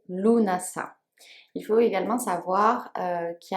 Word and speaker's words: Lughnasadh: connecté à son coeur a priori louvain sade se prononcerait luna ça il faut également savoir